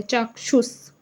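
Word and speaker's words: चाक्षुष: इसको अच्छे से प्रोनाउंस कीजिएगा। थोड़ा अलग है। चाक्षुस।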